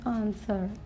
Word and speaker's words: answer: Now W is silent in these words. First word is answer.